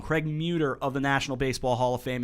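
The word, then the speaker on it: Muder: Craig Muter of the National Baseball Hall of Fame and Museum in Cooperstown, New York.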